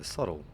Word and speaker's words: subtle: in there yeah seriously why is it pronounced subtle when there's a b in there wouldn't it be spelled